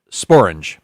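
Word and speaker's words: sporange: There is this is a real word and it's pronounced spor. It rhymes. It's an actual real rhyme with the word orange.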